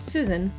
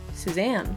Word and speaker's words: Suzanne: character from the logo I also named her Suzanne not Susan Suzanne I picked for her